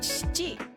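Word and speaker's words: しち: My advice would be try not to pronounce the E here. So you're just saying chi.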